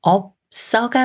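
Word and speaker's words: 없어: 이응 자리로 올라가서 하비가 돼요 하비 하비이 말은 업 써가 맞을까요 아니면 어 버가 맞을까요 겹받침 비읍 시옷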